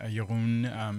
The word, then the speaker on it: Jeroen: The country I'm from, Jeroen is how you pronounce it.